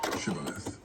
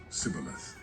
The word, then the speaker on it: Shibboleth: The Gileadites seized the Jordan River crossings and used a test word, Shibboleth, to catch fleeing Ephraimites, who mispronounced it as Sibboleth.